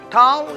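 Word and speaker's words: ταυ: Tau is pronounced like tough T. Tau. It is like pronounced like T.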